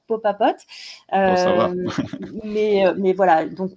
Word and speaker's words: Popapote: Et pas mal de consommateurs m'ont dit c'est quand même difficile à dire Popapote. D'accord. Donc on est d'accord, c'est sympa pour quand on arrive à le prononcer, faut juste aller lentement, Popapote.